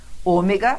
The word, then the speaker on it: Ômega: Ômega, sim, não é a última, não é a penúltima, é a antepenúltima sílaba tônica, tanto que veio com acento e faz a gente saber disso.